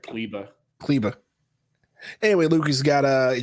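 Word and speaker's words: Kleber: what's his name cleveland it looks like klieber but i think they pronounce it clibba clibba anyway luke's got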